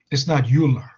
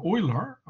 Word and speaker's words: Euler: So if you forcefully anglicize the names like, you know, proper nouns like Euler, that's German name, so Euler.